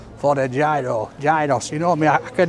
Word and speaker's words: Yeeros: Is it gyro, gyros? Yeeros. Yeeros? Yes. Yeeros, that's it, that's the one, right, I know now.